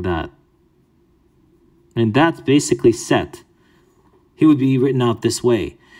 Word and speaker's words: Set: the last one is set his name is seth but it's actually set without the e or if you don't